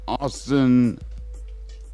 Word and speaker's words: Austin: 1974, the Texas Chainsaw Massacre horror film premieres in director Tobe Hooper's hometown, Austin. Yep. Wow, I didn't know that. Austin, Texas, in the U.S. Yep. Boston. Austin rhymes with Boston.